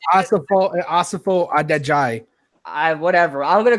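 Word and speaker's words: Asafo-Adjei: And let's start with obviously the first guy there, George Afaso Ajay, whatever. No, it's Asafo Adejai.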